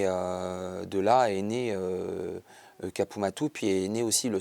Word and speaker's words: Capu Mattu: d'où d'où est né Kapumatou si on doit le prononcer l'accentonique c'est capumat.